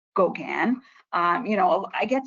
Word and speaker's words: Gauguin: how to pronounce it uh how do you pronounce Gauguin or goguin um it's Gogan um and he of course is our namesake